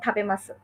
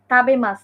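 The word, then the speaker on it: 食べます: ঠিক জাপানিজটাও আপনি এরকম চিন্তা করেন যে আপনি জাপানিজে বলতেছেন, জাপানিজরা বলে হচ্ছে গোহান থাবেমাসু বা গোহান তাবেতাই দেসু। এখন আপনি ফরেনার এসে বললেন, গোহান তাবেমাস, তাবে, তাবেমাস না, থাবেমাস।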